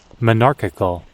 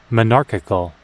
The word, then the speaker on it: monarchical: monarchical, 지금 소리가, 예. monarchical, monarchical, 네, monarchical. 두 번째 실레블에 액센트가 있죠.